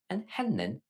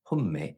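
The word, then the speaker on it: هنّي: Inhinni, they. Sometimes pronounced "humme" in some dialects.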